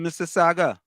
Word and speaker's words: Mississauga: Oh, like highly lives in Mississauga. Canada too. Mississauga. Oh Lord, they didn't teach all the phonics Mississauga in Pimaka. is Mississauga. It's not Mississauga. Mississauga. No, the U is the U is silent.